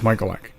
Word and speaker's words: Michalec: And for any new listeners, it's Michalec.